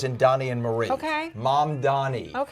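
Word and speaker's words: Mamdani: I think we're going to have four years of Dammani. Money. It's mom Donnie. Think like mom as in mother and Donnie as in Donnie and Marie. Okay. Mom Donnie.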